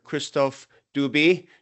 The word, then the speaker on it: Christophe Dubi: Today, my my guest, it's a pleasure to get to interview Olympic Games executive director Kristoff Dubie. Do I pronounce that correctly?